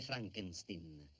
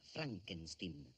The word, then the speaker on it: Frankenstein: una domanda Dottor Frankenstein si legge Frankenstein come prego il mio nome si pronuncia Frankenstein ma lei non è